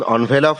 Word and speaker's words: envelope: তো আমার বিশ্বাস, আই বিলিভ, জাল খাম, জাল ইংলিশ ফেক বা ফনি, খাম আনভেলাপ, উচ্চারণ অনভেলাপ হয়, আমরা সাধারণভাবে এনভেলাপ বলে থাকি।